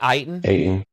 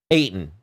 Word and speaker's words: Ayton: Did I pronounce his name right? DeAndre Ayton? Ayton.